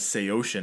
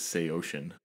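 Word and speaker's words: Saosin: and then yeah said referred to them as SE ocean and I was like that's not real and then so I researched it more and yeah that's real that's how it's supposed to be pronounced is SE ocean I feel like it's the uh that whole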